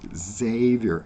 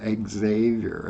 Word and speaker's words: Xavier: It's Francis of Xavier, Xavier. It's an X. Xavier. It's pronounced like a Z, but it's an X.